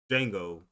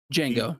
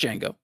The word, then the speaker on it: Django: Um was Will Smith said can the Django I said it wrong. Django Jango just Jango be more of a western romance.